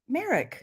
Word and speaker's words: Marrok: Yeah, Kelly, it is pronounced like it, but it's Marrok. So, Merrick.